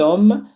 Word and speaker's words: homme: Como o H é mudo, ele não tem som. Cet homme, cet hôtel.